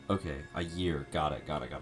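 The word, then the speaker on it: Ægir: I year. Oh, there's no there's no G. It's uh it's I year. Okay. Ayear.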